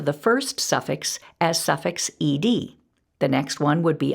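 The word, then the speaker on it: -ed: For example, the suffix ed, which means past tense or already happened, can be pronounced 3 different ways: ud, d, or t.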